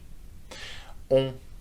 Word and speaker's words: on: On is pronounced with your nose, okay? That's one of those nasal vowels, okay?